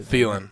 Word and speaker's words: Thielen: big fan of Adam Thielen is how you say feeling is it yeah so